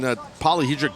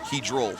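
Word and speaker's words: polyhedral: I mean, polyhedric dye is not going to help him right now. Did I say it right? Hedral.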